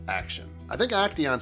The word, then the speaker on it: Action: Alright, this next build is by Action123, although he will always be Acteon to me. But he wants it pronounced Action.